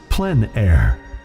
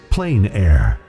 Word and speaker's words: plein air: open air or outdoors the french pronounce it plen air others say plain air no matter how you